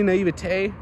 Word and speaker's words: naivety: And in all honesty, a tiny little bit of naivety, that's how you say it, naivety, naivitay, just be a little naive and say, why not?